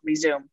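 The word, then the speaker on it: Rezoom: And for anyone who is hearing themselves in my words, I really recommend my third book, Resume. Because it's spelled R-E-Z-O-O-M, like resume, do it fast, resume.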